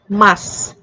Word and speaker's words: masu: japanese is pronounced as this is especially true at the end of the words such as death or mass which then sound like des and mas desu should be pronounced as desu and masu should be pronounced as mas another example is suki